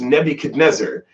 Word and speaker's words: Nebuchadnezzar: And I looked at him and I just said, oh yeah, that was Nebuchadnezzar. And he like stops and he's shocked and he goes, so that's how you pronounce it.